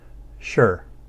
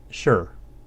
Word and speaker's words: 是: to express identity now by itself is spoken in the fourth tone sure sure otherwise especially in a